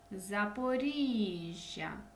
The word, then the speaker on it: Запоріжжя: Вінниця наголос на і Запоріжжя наголос на і Київ наголос на и